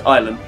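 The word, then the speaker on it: Ilam: Ilum, pronounced Ilum, is a village in the Staffordshire Peak District lying on the River Manifold.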